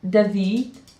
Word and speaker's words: David: His name is David. Mhm. Is that how you pronounce it?